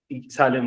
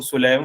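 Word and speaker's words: سليم: Okay sir सालिम हुआ, वही बात होगी, ठीक है। इसको असल में अरबिक वर्ड है ना, प्रोनाउंसिएशन अगर आप करते हैं तो सुलैम वर्ड बनता है, लेकिन सालिम भी ठीक।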